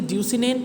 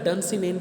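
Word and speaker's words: Dunsinane: Castle जो है basically ड्यूसिनेन pronunciation नहीं होती, इसका डनसिनेन प्रोनाउंसिएशन है.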